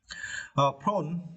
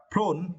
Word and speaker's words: prone: Prone, it is adjective prone. Yeah, prone. Yeah, you should not pronounce pro. It is not correct. You should pronounce prone.